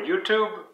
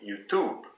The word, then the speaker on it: YouTube: And for YouTube, it'd be YouTube, YouTube.